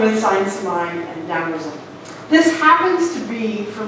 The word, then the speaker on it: Taoism: If you're not familiar with Taoism, it's spelled T-A-O, not D-O-W as in Dow Jones. That's something completely different, but it sounds like that.